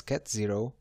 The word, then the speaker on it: ket: We pronounce these symbols as cat0 and cat1.